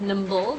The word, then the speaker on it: NIMBLE: It's spelled N-I-M-B, but we call you pronounce it NIMBLE, the NIMBLE framework, and it's just a framework that my colleague, I don't know if you know Prof.